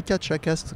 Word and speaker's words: Catchacast: en format vidéo aussi également donc maintenant le catch à castres comme ça se prononce c'est dur à dire mais c'est facile